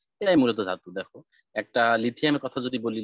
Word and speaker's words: লিথিয়াম: দেখো, একটা লিথিয়ামের কথা যদি বলি, লিথিয়াম আর একটা সহজভাবে বোঝার বই হয়েছে সবার শেষে কিন্তু একটা আমের মতো উচ্চারণ হবে, লিথিয়াম, ম্যাগনেশিয়াম, অ্যালুমিনিয়াম।